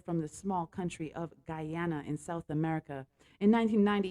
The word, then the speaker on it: Guyana: He's a fusion reggae artist hailing from the small country of Guyana in South America.